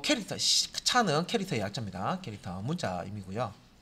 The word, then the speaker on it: CHAR: 자, 필드 만들 때 글자 한 자만 저장해라 하면 캐릭터 1, 캐릭터 차라고 보통 있습니다. 왜? 캐릭터 해버리면 그 스펠링을 우리가 다 쓴다고 생각할 수도 있으니까 이게 좀 구분하기 위해서 그냥 뭐 이렇게 또 이렇게 발음을 해요.